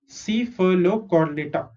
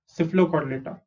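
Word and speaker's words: Cephalochordata: CC, PHA is fur, LO is low, CHOR is not chore, it is cord. Okay, not chore but cord. And data, Cephalocortal. Cephalocortal.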